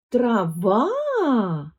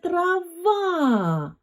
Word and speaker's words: трава: тепер запитаємо про траву це трава наголос падає на другий склад також це трава ми протягнули другий склад це трава більше наголос якраз на другому складі переходимо до письма Подивись